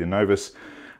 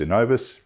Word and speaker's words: Innovis: premium range of machines so the anovus uh innovas in novus we all pronounce it a bit differently but it's a premium